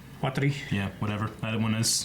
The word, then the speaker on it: Watari: I get made fun of for not being able to pronounce Waterly. Watari.